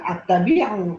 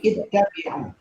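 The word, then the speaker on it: اتَّبِعُوا: Ya, bacanya bukan at-tabi'u, tapi ittabi'u.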